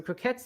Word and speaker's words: croquette: Stephen did clarify that a McCrocket is pronounced croquette. I guess is the word, like the French. I don't think it's croquet because that would end in just one T. This is TTE, croquette.